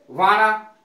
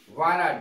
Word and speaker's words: wanna: वाना, वाना WANNA, और गॉटा की स्पेलिंग है GOTTA।